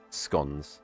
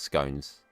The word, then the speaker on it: scone: I just associate Cornwall with um scon. That's the correct pronunciation by the way as well. It's not scones.